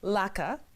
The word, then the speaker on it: LACA: So tell us about LACA. Am I pronouncing it correctly?